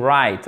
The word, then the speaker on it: write: et en parlons 3 vous le savez tous right on ne prononce pas de w 1 eh ben on